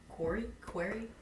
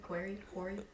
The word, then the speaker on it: Quarry: I think the last big hit was, what, Quarry? How do you pronounce that one again? Quarry? Q-U-A-R-R-Y? Oh, the Quarry?